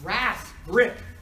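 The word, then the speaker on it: RasGRP: But in addition, it also binds RAS grip. RAS grip. Which I pronounce it grip. I just like to say that.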